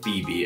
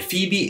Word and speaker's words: Phoebe: much but anyway on with today's name of phoebe and phoebe is the name of ancient greek origins and